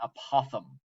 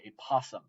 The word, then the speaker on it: apothem: and that is an apothem sounds like my son who has a hard time pronouncing things saying a possum okay so I saw